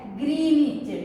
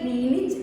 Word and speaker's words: Greenwich: We should pronounce it as Greenwich, W silent. Okay, Greenwich longitude.